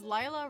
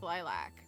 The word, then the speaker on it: Lila: Because Lila rhymes with lilac. So my name is pronounced Lila, but it's Spanish for lilac. Fun fact. That's why it's pronounced... that's what it means. So it is Lila. That's how it's said in Spanish.